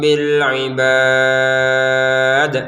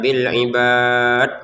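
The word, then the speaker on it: بالعباد: Bir bil ibad. Jangan lupa huruf dalnya kita pantulkan. Jangan sekedar baca bil ibad. Enggak ada pantulannya itu ya.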